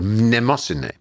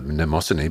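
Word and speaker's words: Mnemosyne: the original females was called nemosine which is spelled m-n-e-m-o-s-y-n-e which is the greek word for memory you can remember nemosany by thinking of the i think of the mnemonic mnemonics because and she bought him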